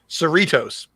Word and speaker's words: Cerritos: sir how do you say the ship's name cerritos so it's a simulation of the cerritos right